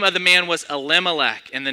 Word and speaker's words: Elimelech: How do you pronounce it? No, it's Elimelech.